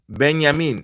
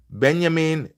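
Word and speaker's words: Benjamin: So I watched Shesho interview recently. It's actually pronounced beyamin. Yeah. Been benyamin sheeshko just like you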